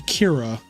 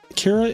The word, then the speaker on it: Kira: oh here it goes Kira is just the Japanese pronunciation of the English word killer um the closest Japanese